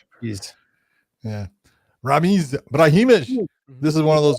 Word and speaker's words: Brahimaj: Brahimaj. Jeez. Yeah. Ramiz Brahimaj.